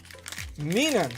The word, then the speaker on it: Minun: Minun. So, your original pronunciation was close.